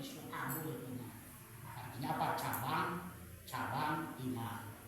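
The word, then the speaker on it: شعب: Makanya ada kitab Syubul iman ada yang membaca syuabul iman. Ya, kalau saya mama itu membacanya bukan suul tapi suabul artinya apa?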